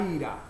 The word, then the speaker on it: Aira: Aira. En vez de aire, A.